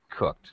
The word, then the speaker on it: cooked: distance looked cooked okay because K is a is a voiceless sound so when we have Eed D it makes a t sound cooked looked asked all right